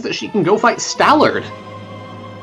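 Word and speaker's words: Stallord: she can go fight stalard which rhymes with malard true going for human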